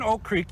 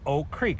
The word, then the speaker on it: Oak Creek: People I just heard Amanda say Oak Creek, so let's be honest, you don't pronounce the first K. No, here in Oak Creek, you call it Oak Creek.